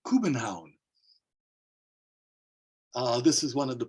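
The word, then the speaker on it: København: in the city of Copenhagen which is actually pronounced Cuban Hound this is one of the plans that I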